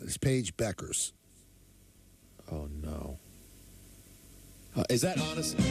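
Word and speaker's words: Bueckers: error by you Peter maor ER the you is silent is Paige Beckers oh no is that honest yeah is that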